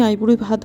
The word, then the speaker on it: আইবুড়ি ভাত: এক রকম প্রসঙ্গত জানাই পাপা যেহেতু স্ত্রীলিঙ্গ তাই জন্য কিন্তু আইবুড়ি ভাতটাই সঠিক শব্দ সঠিক উচ্চারণ কিন্তু আইবুড়ো ভাতটাকে উভয়লিঙ্গ হিসেবে অনেকেই ব্যবহার করে থাকেন যদিও সেটা ভুল কিছু নয় কিন্তু আমি আইবুড়ি ভাত বলতেই পছন্দ বেশি করব